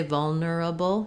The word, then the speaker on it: vulnerable: um i think it's totally fine to say vulnerable just try to be long on the vol and then do your